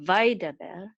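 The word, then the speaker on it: וַיְדַבֵּר: So the accent mark is on the last syllable here. So this word should be pronounced vaidaber, not vaidaber or vaidaber. It's vaidaber.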